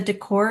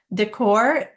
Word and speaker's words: decor: going to follow with an infinitive and the decor is the object of the sentence is the